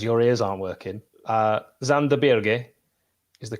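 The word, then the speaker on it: Sander Berge: I'm gonna because your ears aren't working uh zanderberg is the correct way to pronounce his name it is it is you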